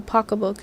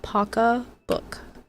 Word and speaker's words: pocketbook: Who here knows what a pocketbook is? Because I've seen online that apparently not everyone knows. Well, yes, Marvin, that's how you would spell it out. But in New England, it's it's pronounced paca book.